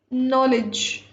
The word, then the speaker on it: knowledge: Knowledge. Also K is silent here.